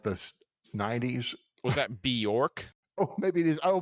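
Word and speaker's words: Björk: so I spelled like if you took born like Jason Bourne born and then switch the end out with a K bork okay yeah yeah okay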